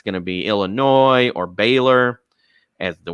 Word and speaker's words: Illinois: I got Illinois winning it all, and it's nice. Illinois, not Illinois. The S is silent.